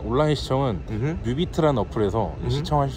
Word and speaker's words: 뮤비트: 자, 온라인 시청은 뮤비트라는 어플에서 시청하실 수 있고요. 자, 스펠링 아시나요 혹시? N, 아니야 뮤, M, M, M, U, B, E, A, T. 그렇죠. 아, 뮤비트.